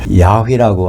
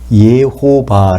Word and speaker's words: 여호와: 하나님의 이름은 여호와라고 나옵니다 또 그 발음을 야외라고 하는 분도 있어요 여호와 또는 야회 더 정확하게는 예호바 할 수 있습니다 그것이 발음에 약간 차이는 있지만 하여튼 우리 성경에 여호와라고